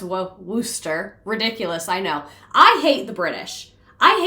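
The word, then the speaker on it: Worcester: Worchester is pronounced Worooster.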